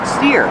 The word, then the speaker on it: steer: You can use the action the verb steer. Steer to the right. Steer to the left. Pronunciation steer like ear.